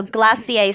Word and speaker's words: glacier: Frozen and cold desserts also glossier spelled like Glacier easy to remember glass